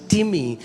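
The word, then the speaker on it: τιμή: इट्स इट्स इट्स the spelling is like time T आई एम ई बट it's pronounce S टिमी एंड it means heavy.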